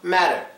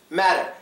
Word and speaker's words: matter: this one is pronounced matter matter it's actually a soft D sound but I'll get to